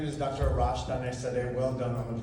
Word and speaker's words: Arash Daneshzadeh: Arash Daneshzadeh. Well done on the pronunciation.